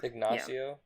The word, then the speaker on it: Ignacio: data, which is, God, how do you say his name? Ignacio? Ignacio. That's what the audiobook said.